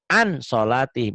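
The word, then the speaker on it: عَن صَلَاتِهِمْ: An solatihim, itu ditulisnya. An. Dibacanya, nunnya ketemu ke sod. Tapi cenderung N-nya jadi G.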